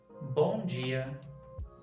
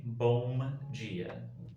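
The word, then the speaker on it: bom dia: is a little different so we have bongia bongia we won't say boom gia boom jia we don't say this it's more nasal and the mouth stays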